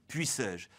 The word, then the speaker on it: puissais-je: Prenons le groupe « puissais-je ». Il se termine par un « e » muet, celui du pronom « je ». Dans ce cas, le qui précède est toujours prononcé ouvert, « est », et